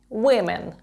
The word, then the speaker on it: women: Woman жінки винен і другий голосний вимовляється як імен вимен Women Ось такі у